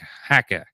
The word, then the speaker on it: haka: this is the the hacka uh I'm gonna the new zealanders pronounce it like hacka like a hacker the challenge of the